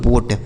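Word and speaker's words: boat: इस ओ ए का उच्चारण ओ की मात्रा। टी से हो गया ट। यही लिखा गया दोस्तों बोट।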